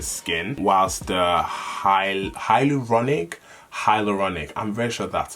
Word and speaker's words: hyaluronic: and refresh the skin whilst the hyal hyaluronic hyaluronic and richer that's how it's pronounced hi yep so once the hyaluronic acid